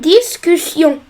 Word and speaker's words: discussion: Alors ici on veut doubler le S parce qu'il y a les deux voyelles U et I et on veut prononcer C.